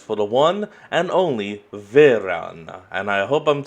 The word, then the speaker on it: Varan: Varan. Okay, that's how the name is pronounced. Oh, but apparently it can also be Varan?